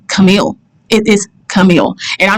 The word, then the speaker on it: Camille: It is not Camille. It is Camille. It's not difficult. It's not complicated. It's simply Camille.